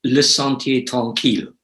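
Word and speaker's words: Le Sentier Tranquille: one okay well the retreat center is called lasanti tonkil now that's french so i'll i'll spell it l e s e n t i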